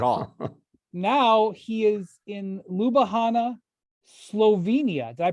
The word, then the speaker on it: Ljubljana: Now he is in Ljubljana, Slovenia. Did I pronounce that correctly? Ljubljana. The J's Wow, are Ljubljana. wow. Ljubljana.